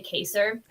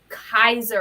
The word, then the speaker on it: Kaiser: your name wrong uh I always say caser I think it's okay I'm like dyslexic and um and today Mrs Buck's like you mean Kaiser and I'm like have I been saying it wrong she's like it's Kaiser and I'm like wow